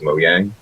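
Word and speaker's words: Mojang: the way you actually the way you actually pronounce their company name because of Swedish is Mo Yang because you know what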